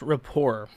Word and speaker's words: rapport: though let me give me a second it's pronounced rapport okay i don't speak french i'll never speak